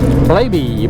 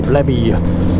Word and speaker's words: Blaby: Blaby, Blabby. Is it Blaby? Is it Blabby? Blabby's a much better name, even if they want to pronounce it Blaby.